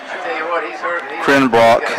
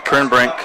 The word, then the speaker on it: Crenbrink: Crenbrock, is that the way I say his name? Crenbrink, that's his second.